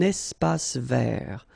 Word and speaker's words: espace vert: Un espace vert. Final E not pronounced, and then final T not pronounced.